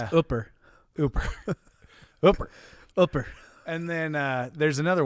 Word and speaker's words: Hooper: Hooper. Oh, definitely. Hooper or Hooper. Ooper. If you say Hooper, they kick you out. Yeah. Yeah. And then it's Ooper.